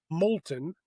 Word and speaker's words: Molton: Uh but all of those I am big Molton. M O L T O N. rhymes with the molten lava spelled a little differently.